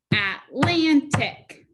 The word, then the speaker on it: Atlantic: atlantic atlantic good and that accent mark is actually moving to the second syllable atlantic okay now let's look at